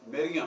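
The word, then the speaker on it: مریم: अब मैरी जो है, याद रखें कि ये बाद में हुआ है मैरी, असल जो प्रोनाउंसिएशन है वो मरियम है, कि जो अरबी में आके मरियम हो गया है।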